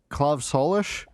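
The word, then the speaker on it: Claíomh Solais: it up and the the proper irish pronunciation was something like club solish all right then which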